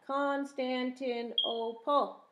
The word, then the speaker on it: Constantinople: big words too like constantinople and timbuktu constantinople and timbuktu can you say that constantine oh paul how many syllables is that constantin oh pull five syllables tim buck two tim two three syllables say say what does